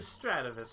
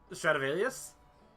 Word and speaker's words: Stradivarius: your Stratovis, Holy? Was that safe and secure? Wait, how did you pronounce that? Stop, stop, stop. How'd you Yeah, pronounce yeah, can we back trace Stratovus? that? Stradivarius?